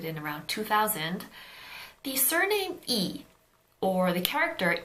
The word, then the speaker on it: 이: in North Korean so in North Korea the surname E is actually pronounced as Li which is closer to the actual Chinese pronunciation anyway so in Korea